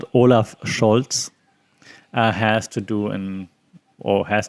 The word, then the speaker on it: Olaf Scholz: So that's what Olaf Scholz, and that's how I pronounce it, Olaf Scholz, has to do or has to work with now that he's our first male chancellor in 16 years.